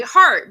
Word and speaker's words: Hart: Well, I just tell everybody Hart, but without the E, you know? Yes, yes, Drop the yes. E on the heart and you're good.